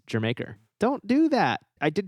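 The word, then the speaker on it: D'yer Mak'er: Led Zeppelin which apparently a lot of people mispronounce Dyer maker and that's not how it's pronounced it's Jamaica don't do that I did try this one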